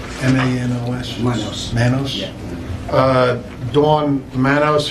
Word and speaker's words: Manos: I'd like to have a moment of silence for, how do you pronounce her name? M-A-N-O-S?